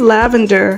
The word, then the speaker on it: Lavandyre: Hi, my name is Lavandyre. Yes, pronounced like lavender, the flowering plant, herb, and color.